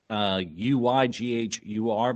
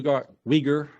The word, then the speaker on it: Uyghur: It is spelled Uyghur, but it is pronounced Uyghur, or at least that's how I butchered the pronunciation. I may have the emphasis on the wrong syllable there.